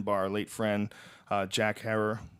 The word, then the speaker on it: Herer: It's the one that, as we said, was written by our late friend, Jack Herer. Herer is how you say it, right? Not Herrera. Think terror.